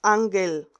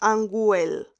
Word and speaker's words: ángel: La G con la E y teniendo una U en el centro, una U que no se pronuncia, aquí diríamos ángel, ángel. No decimos anguel.